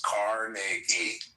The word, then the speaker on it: Carnegie: So well, pronounce his fucking name right. It's Carnegie.